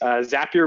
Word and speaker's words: Zapier: and the pronunciation is zapier rhymes with happier I said it wrong